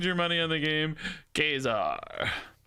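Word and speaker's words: Ka-Zar: money in the game Kazar kesar by the way I get a lot of people who tell me this is not pronounced kesar I have video evidence of kesar himself pronouncing it kesar I used to have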